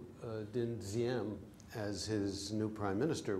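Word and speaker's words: Diệm: If you put a bar across it, you pronounce it Diem.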